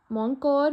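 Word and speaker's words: Mon Cœur: So, Mon Cor means my heart in French. For the pronunciation, I have checked from Google, and Google said that it should be pronounced as Moncor.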